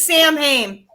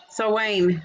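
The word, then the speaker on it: Samhain: Sam, I know it looks like it says Sam Haim, but it's not. Oh, so Wayne, right?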